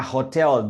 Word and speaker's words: hotel: Vamos a pronunciar la palabra hotel. La H suena como J. Es esencial. Right. Hotel, hotel. Right, hotel.